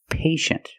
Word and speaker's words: patient: examples patient and initial with patient we see TI e making the sh sound patient the first syllable is a long a like day and pay pay and shin the second syllable is a Clos sound sh sh sh patient patient could be an adjective